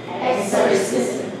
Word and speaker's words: exorcism: Okay, now, if you're listening attentively, you should have heard that I pronounced this with a Z. Why? There's another rule. For words ending in SM, the S becomes a Z.